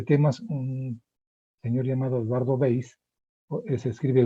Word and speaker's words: Weiss: este tipo de temas, un señor llamado Eduardo Weiss, se escribe Weiss con W-E-I-S-S.